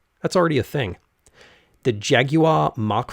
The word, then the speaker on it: Jaguar: out of my mouth jaguar i'm told the proper pronunciation is jaguar presumably the r at the end is silent since that's a thing in british english at least in the